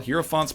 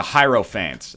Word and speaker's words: Hierophant: well heropants pretty dope the hant oh sorry the hierophant I got these own I got my own names to pronounce these with and then all of a sudden they come in with the canonical uh real name the actual pronunciation I feel like an